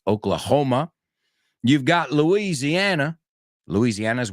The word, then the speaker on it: Oklahoma: Bueno, la H se pronuncia en inglés. Oklahoma.